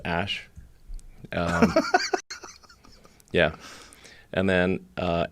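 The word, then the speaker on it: Æ: they love their X's they love their V's pronounced Ash um yeah and then uh a12 a12 is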